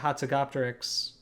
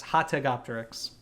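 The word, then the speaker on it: Hatzegopteryx: end I thought that the hatsugopteryx I'm sorry yeah yes hot Tech Optics our pronunciation has been corrected we looked it up Scott was right I was wrong um I know I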